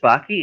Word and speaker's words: Backe: So I am Chris Backke. It rhymes with hockey.